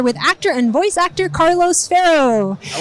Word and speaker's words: Carlos Ferro: and I'm here with actor and voice actor Carlos farro I like the pronunciation you nailed it thank you so we've